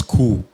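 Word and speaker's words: coup: The first one is cool. C-O-U-P. Cool. Cool. The P is silent, yes.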